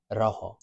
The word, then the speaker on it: rojo: It always kind of uses your tongue, like rojo at the start of rojo. It's not rojo or rojo. It's rojo. If I have a double